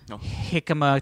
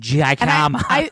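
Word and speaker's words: jícama: Dude, Jicama tacos.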